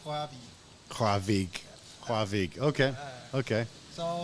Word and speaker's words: Rørvig: So you're from a small town called Rørvig, right? Yeah. Yeah, it's hard to pronounce so Okay. I'm trying not to butcher the names. It's almost correct so proper pronunciation is Rørvig.